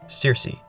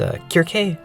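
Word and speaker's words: Circe: of a powerful nymph, Cersei, which can also be pronounced Kirk. I think that's the way they do it in the Greek, but here I'll be calling her Cersei.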